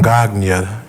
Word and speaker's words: Gagne: The 1974 version, which should have been subtitled a Vern Gagne joint. How do you say his last name? Gagne. It's French.